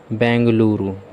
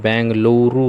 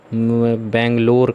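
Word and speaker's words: Bengaluru: ठीक है, कर्नाटक की राजधानी बेंगलुरु। क्या है? बेंगलुरु है, वैसे बेंगलोर कह देते हैं, लेकिन बेंगलुरु है।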